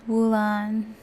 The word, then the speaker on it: Wulan: see a scent of her name is Wulan rhymes with Mulan kind of makes you